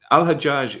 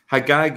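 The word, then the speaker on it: Hajjaj: man was called now al-hajaj is actually um the same way that um some hours pronounce um sorry let me put it a different way hagag is the Jewish version of that and it's still pronounced that way hagag in some Arab countries such as Egypt and what does hagag actually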